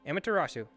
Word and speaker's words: Amaterasu: I believe it's Amaterasu. Let me see if I can take a look at the notes correctly. I may have gotten that butchered. Nope, that was perfect. Amaterasu.